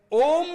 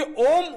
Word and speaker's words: ओम: ये कहते हैं कि ओम उनका नाम है, ओम उनका वाचक शब्द है। तो ओम ये क्या है? अब देखिए, ओम में 3 उच्चारण आते हैं, अ, उ और म।